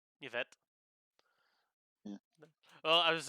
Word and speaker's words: Yvette: I don't know how to pronounce this one, but Yavina. YVN. Yavinas. There you go, Yvette.